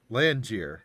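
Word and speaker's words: Lanjyr: about land year rhymes with banjir i love the pronunciation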